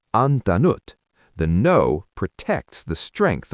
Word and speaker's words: antanut: You keep both t's. How do you say I didn't give n antanut. Exactly. You don't say ananut. You say antanut.